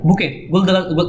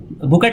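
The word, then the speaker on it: bouquet: फिर है बुके, इसको पढ़ा जाता है बुके, बुकेट नहीं पढ़ा जाता, टी साइलेंट होता है इसमें।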